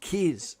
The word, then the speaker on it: Kaz: They didn't realise it's pronounced Kiz, as they would say in New Zealand.